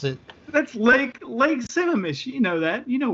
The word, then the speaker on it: Sammamish: that I can't really see it let alone pronounce it that's Lake Lake Sammamish you know that you know where something that's